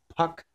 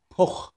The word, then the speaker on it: Puch: wanted to give you the German pronunciation of that moped brand so it's not couch well what's the other thing that you say a puck it's poor you know I grew